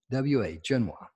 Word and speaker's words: Genoa: She says you pronounce it G-E-N-W-A, Genoa.